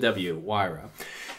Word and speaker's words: Huayra: these are saying now now that just pronounced with w-why row the Pagani I think